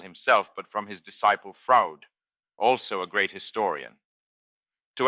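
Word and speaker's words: Froude: but from his disciple Fraud, also a great historian. To add to the fun, Fraud is pronounced just the way Keanu Reeves says Freud in Bill and Ted's Excellent Adventure.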